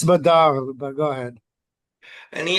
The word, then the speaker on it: Badr: at a caravan at, I guess you pronounce it Badr, Badr. I think there's a vowel missing there, but that's how you spell it, Badr. Well, it's Badar, but go ahead.